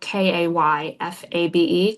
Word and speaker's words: kayfabe: And it's this level There's this idea in professional wrestling of kayfabe. Do you know this term? I'm not sure. It's spelled k a y f a b e, kayfabe.